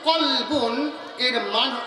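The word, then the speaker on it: قلب: তো কফ লাম বা, এই কলবুন উচ্চারণ হচ্ছে কলবুন, এর মানে হচ্ছে অন্তর, দিল, হার্ট।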